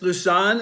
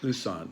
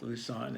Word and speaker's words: Lusann: and your name is LaShawn am i pronouncing that correctly Lu's son okay like loose on and or on the